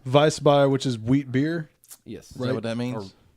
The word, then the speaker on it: Weissbier: This one, Ethan, go ahead and pronounce the name. Franziskaner. Right? Weissbier.